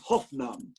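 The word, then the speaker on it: Hoffnung: born 100 years ago called in the english way of pronouncing his name gerald hoffnunn gerald hoffnong he came from germany he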